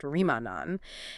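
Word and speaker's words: Remagen: And it is very close to the highly historical area of Remanagin, that is pronounced Remanan.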